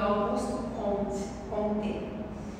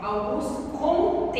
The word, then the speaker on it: Auguste Comte: Então, como bom francês, a pronúncia do nome dele, se vocês tivessem ouvido, pode ser que vocês tenham ouvido Auguste Comte, mas é Auguste Comte, que é francês.